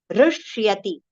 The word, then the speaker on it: हृष्यति: with complete pronunciation, so immediately connect it with r as we recite in hriday. Okay. In hriday, how do we say? The same pronunciation we have to take here. Rishyati. Rishyati. Right? So, ru will have aghat for partial sh. And then, shya we have to pronounce. Half sh with complete ya as one sound. Shya. Shya. Rishyati. Rishyati. Okay.